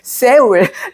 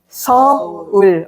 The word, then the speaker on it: Seoul: no, Chol, okay, so Seoul. Oh, your pronunciation is so good. Most of foreigners, they say Seoul like this, but not Seoul. Seoul.